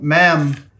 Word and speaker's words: ma'am: dealing with her says mom ma'am uh sorry it rhymes with ham not mom uh says ma'am if